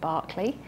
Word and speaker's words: Berkeley: My name is Julia Berkeley, spelt Berkeley, but in England it's pronounced Berkeley.